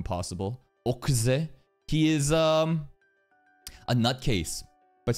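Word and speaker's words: Oczy: Okzy. O-C-Z-Y. But, you know, in anime, we've got to pronounce that in the weirdest way fucking possible. Okzy.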